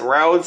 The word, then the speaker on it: Rhodes: people drive cars on his last name is spelled r h o d e s oh